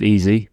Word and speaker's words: Eze: Now, there's a lot of things here alluding to the fact that EZA should be pronounced easy, but uh we'll let that slide.